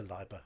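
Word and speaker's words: Leiber: we start off with Fritz Lieber Liber if you want to pronounce his name um quite a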